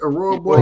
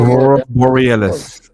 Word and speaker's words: Aurora Borealis: How you say it? Aurora Boris. Aurora Borealis. Yeah.